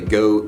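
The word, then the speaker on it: Geaux: comes to the Tigers we don't spell go geo we spell it GE aux and that's just a French spelling of go the other thing I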